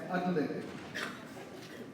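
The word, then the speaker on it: atlatl: It is pronounced as adlet.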